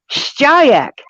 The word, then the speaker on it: Shayak: story of the cards, Shayak. Not like Shaq. I had to practice that for a week. Shayak. Yeah, because it's the way it's spelled and the way you're supposed to say it.